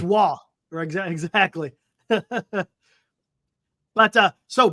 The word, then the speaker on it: Roy: pronounce it Hill okay everybody says Patrick Roy but it's not Patrick Roy it's wall ex exactly but uh